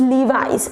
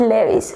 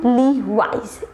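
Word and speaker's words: Levi's: ઇટ્સ લીવાઇસ એન્ડ નોટ લેવિસ. Just repeat after me, લીવાઇસ.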